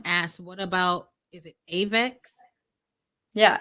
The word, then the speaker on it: AVAX: right but someone asked what about is it avex yeah avax so what about apex yeah yeah that's how you pronounce it so it's it's the avalanche network